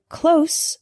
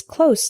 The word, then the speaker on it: close: common examples the word closed with an S sound means near not far for example my house is close to the bus station the word close with the Z sound is a verb this means to shut